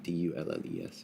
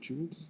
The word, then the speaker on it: Dulles: D-U-L-L-E-S, yeah, I think. The Washington Jewels, sorry. Was it, how's it pronounced? Is it Jewels? No, Dulles. Dulles. Okay. Dulles. It is, it's in John Foster Dulles.